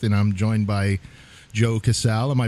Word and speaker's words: Casal: Tattoos by Keith and I'm joined by Joe Cassel am I pronouncing that right that's correct or do you